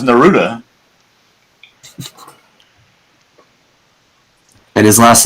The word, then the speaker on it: Naruto: Yeah, I put a proper pronunciation in the chat for those that care. Naruto. Yes, that's how you pronounce it.